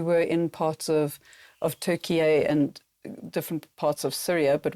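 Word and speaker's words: Türkiye: not know the country Turkey recently changed the pronunciation of the name to Turkey a and over the last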